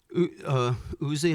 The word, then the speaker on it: Uzi: Uzi, am I saying it right? Uzi? Yeah.